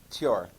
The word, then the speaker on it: Thor: I don't mean to sound like a know-it-all, but Thor in Nordic is actually pronounced Thor. Tjor.